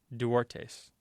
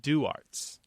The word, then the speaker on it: Duartes: But it is not pronounced Duartes. It's pronounced Duarts. Oh, interesting. Because they've been here so long that the family's completely lost, that Spanish pronunciation of the name.